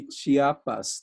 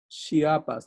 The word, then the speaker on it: Chiapas: acquainted with will be Chiapas. That's the way you say it in Spanish. Chiapas. There is no other way of saying it.